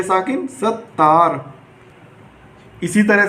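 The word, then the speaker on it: ستار: जिस हरूफ पर तस्दीर लगाई जाती है वह हरूफ हमारा 2 बार पढ़ा जाता है, इसलिए सीन, ये ते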